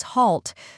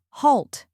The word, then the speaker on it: halt: the correct pronunciation is halt let's break it down first we have H A WL which rhymes with ball and call then comes T which